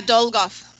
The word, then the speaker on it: Dolgoff: name is is it dole golf or how do you say your last name yeah dole golf okay so let me